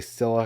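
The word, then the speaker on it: Scyla: am i talking about scilla i'm just going to say silla because i think that's the way you pronounce it if you're not familiar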